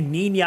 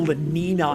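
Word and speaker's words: Niña: Like you say Nina and Nino, like the weather systems, man. Like I I don't know. It just feels weird to say El Lina and Lanino.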